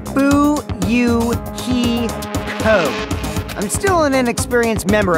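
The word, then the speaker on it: Fuyuhiko: last name is kuzuria my first name is pronounced boo you he ho I'm still an inexperienced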